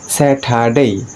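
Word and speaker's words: Saturday: এর কারণ হচ্ছে আর এর পরে যদি কখনো কনসোনেন্ট আসে তখন সে আর এর উচ্চারণটি হয় না, আর আর এর পরে যদি কোনো ভাওয়েল আসে তখন আর এর উচ্চারণটি হয়।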